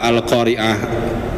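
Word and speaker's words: القارعة: Beda antara qiah dengan ain dengan qiah dengan hamzah. Kalau dengan hamzah memang artinya adalah seorang pembaca, tapi kalau al-qariah dengan ain artinya adalah hari kiamat seperti itu.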